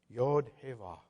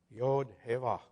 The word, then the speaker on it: Yod Heva: He said, you read this right to left. And this is how you pronounce it. Yod Heva. Yod Heva.